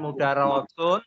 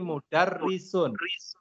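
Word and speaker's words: مُدَرِّسٌ: di bawah tajwid Hai ini bacaannya bukan mudah Rasul tapi mudarrisun ya ini baru mungkin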